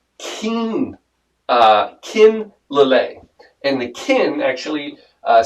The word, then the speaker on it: Lillet: to do this drink i talked about lalay last week and i was convinced it was lillette it is one of the most common mispronounced uh uh alcohol liquors out there and i've